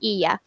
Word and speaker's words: Hylla: It's Ia. That's how you pronounce So it. the double L's, they make a yeah sound in Spanish. My name is Spanish, and H is silent, so it's Ia.